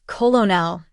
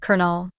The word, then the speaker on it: colonel: For example, you might read colonel as colonel instead of the correct pronunciation, colonel.